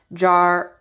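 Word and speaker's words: Jera: passed it all right yes it does okay pronunciation Jara okay Jara meaning year or harvest these are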